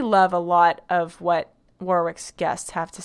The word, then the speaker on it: Warwick: a lot of what warwick's guests have to say warwick sorry i know i always mispronounce it it looks like warwick and my brain says warwick i know it's warwick war ick work i'm just not australian